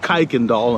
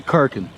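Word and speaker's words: Kuykendahl: k-u-y which is weird when I moved here I used to call it kaiken doll until I heard the locals say karkin yeah so we're heading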